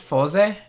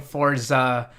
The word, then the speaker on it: Fourze: So it's actually pronounced Fourze. In the katakana, it's Kamen Rider Fourze, and in the show they say Fourze. So I don't know where anyone's getting Forza or Fourze.